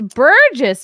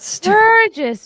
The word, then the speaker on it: Burgess: I think I've been saying it wrong all these years. It's Burgess Meredith. Wait, what? Oh. Burgess Meredith, not Sturgis Meredith.